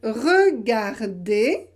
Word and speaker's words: regardez: peu les appels appelé souvent on le supprime à l'oral souvent on ne le prononce pas à l'oral par exemple regardez vous pouvez prononcer regardez